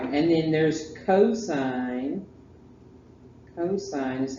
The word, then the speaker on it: cosine: Cosine is how you say it. Don't call it cos. And then tangent. T-A-N-G-E-N-T. Tangent. Sine, cosine, tangent.